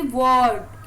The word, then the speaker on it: world: और ये WORLD, इसमें सिर्फ L आया है, देखो L का फर्क है, इसे बोलेंगे वर्ड, इसमें L भी साइलेंट है।